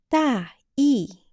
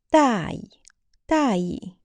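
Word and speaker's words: 大意: 大意 main idea, and neutral tone 大意 means careless.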